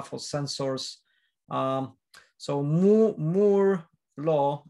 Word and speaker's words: Moore: sensors um so more more law it's spelled m-o-o-r-e like more like roger moore from um zero zero